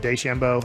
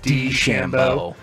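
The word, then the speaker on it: DeChambeau: out the other day I was saying it wrong when I said Des Shambo it's D Shambo just the D not day D Shambo yeah so when it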